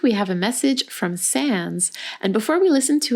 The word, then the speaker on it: Sans: Hi guys, my name is Sans, S-A-N-S. I always have to spell it out loud because people always think that it's Sam, but it's not.